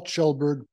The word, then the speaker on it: Kjellberg: room um I'm chelberg my last name is pronounced like a CH but please just call